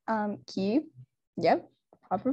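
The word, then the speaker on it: Kyiv: i know a lot of big museums in kiev um cube yeah proper pronunciation have been using um have successfully moved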